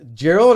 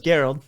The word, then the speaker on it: Garold: And so, and forgive me, Gerald or Garold? I want to. Garold. It is with a hard G.